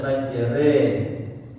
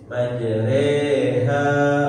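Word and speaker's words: مجريها: Tapi di sini hanya dipiringkan harakat fathahnya. Jadi apa namanya? Terbaca majre. Majreha wa mursaha sama-sama dua harakat. Jadi bacanya jangan terburu.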